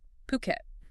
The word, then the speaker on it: Phuket: And just so we're clear, it's Phuket. Right. Phuket. Important pronunciation point there. Exactly, like Phu and then ket, Phuket.